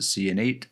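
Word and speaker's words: Ciannait: And I watched a Bethesda live stream, and that's how one of the developers pronounced it, Cyanate. So I guess that's how I'm going to pronounce it.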